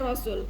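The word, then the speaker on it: رسول: Rasul jamak dari rasul. Kalau rasul itu satu, tiga ke atas rasul. Jadi perhatikan cara bacanya. Rasul itu sunya yang panjang itu satu. Kalau rusul pendek semua itu jamak.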